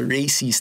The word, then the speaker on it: Racies: to talk about the Racies talaga is kasi may Racies sa dulo. The Racies, that's why I call it the Racies series. The Racies series. And it rhymes with crazy or race.